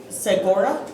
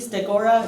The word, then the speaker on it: Stegora: Segura, I do believe Stegora is how you say it.